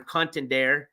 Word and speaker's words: contendere: of noo Contender or contendere I'm pronouncing the E because I think that's how you do it in Latin it's check mark plea